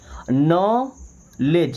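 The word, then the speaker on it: knowledge: नो लेज। यहां पे D silent है। ओके? यहां पर डब्ल्यू साइलेंट है। नॉलेज क्या पढ़ते हैं? नॉलेज।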